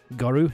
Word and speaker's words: Goru: Goru, yeah, that's how you say it.